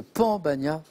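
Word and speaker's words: pan bagnat: Mais Jean-Paul, vous l'avez très bien prononcé, c'est le pambagna, P-A-N.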